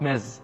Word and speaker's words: Ms: Ms, this one is pronounced Ms with Z sound.